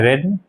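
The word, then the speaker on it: read: Spelling same होती है लेकिन प्रोनाउंसिएशन बदल जाता है, रेड, बाई।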